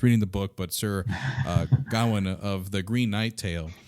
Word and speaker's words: Gawain: I was saying it wrong when I was reading the book, but Sir Gawain of the Green Knight tale. Yeah, Sir Gawain, yeah.